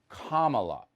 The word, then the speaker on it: Kamala: That's how you say her name. Kamala, like comma.